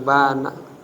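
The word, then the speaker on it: بانَ: Ah ini bana bukan bianna bacanya bana.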